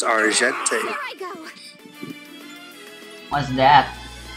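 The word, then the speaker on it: Argenté: It's Argente.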